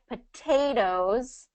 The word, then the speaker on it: potatoes: Okay, so what happens with this rule is, so in word stress, we always have one syllable that's stressed, right? Yeah. Okay, so whatever that stressed syllable has that T in it, so like potatoes, that second syllable is the stressed syllable, so we're not going